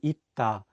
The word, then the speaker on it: 있다: Another example would be 있다, which is the Korean word for the verb to be. Here, the 쌍시옷 is in the 받침 position, so it's pronounced as 트.